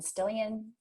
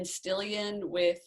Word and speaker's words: Stillion: with one N and Stillion it's like million, right? Just with an ST and no M in the beginning.